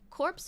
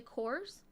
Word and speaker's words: Corps: It's technically, when it's spelled like this, it's actually cores, like core, like the Marine Corps. But if it's meant to be corporation, then it would be corpse.